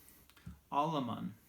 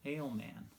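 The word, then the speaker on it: Alemán: gentleman's name was oscar aleman and you know i did not know how to pronounce his name i noticed there was the the mark there the accent mark above the a otherwise i would have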